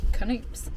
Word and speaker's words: Knoops: because I was like, what if the K is silent, and I've been calling it Knoops, but it's not. Apparently that is how you say it, Knoops.